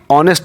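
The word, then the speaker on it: honest: अगर हम एच को यहाँ पे हॉ से पढ़ें तो हॉ हो जाएगा, ठीक है, जो कि प्रोनाउंसिएशन गलत है। प्रोनाउंसिएशन इसका होता क्या है कि ऑनेस्ट, ओ से होता है, ऑनेस्ट होता है। क्या होता है? ऑनेस्ट, आ से।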